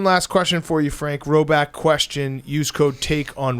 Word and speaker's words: Rhoback: Roback question.